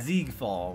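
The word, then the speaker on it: Siegfeld: Ziegfall. Why is there an S when it's pronounced with a Z sound?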